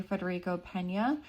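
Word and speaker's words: Federico Peña: I just wanted to say that I had been pronouncing the former mayor's name incorrectly and it's actually Fedrico Pena.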